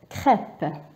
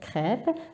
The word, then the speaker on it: crêpe: Alors l'accent E accent circonflexe طريقة النطق تاعو هي نفسها طريقة نطق ال E accent grave. ما كاينش تغيير. نعطيلكم مثلا crêpe.